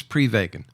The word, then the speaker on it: Prevagen: So, remind us what exactly is prevagen? Well, technically it's pronounced Prevagen, but what Prevagen is is a